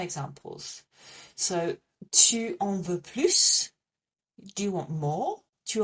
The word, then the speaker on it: plus: The second time we pronounce the S is when we want to ask for more just on its own.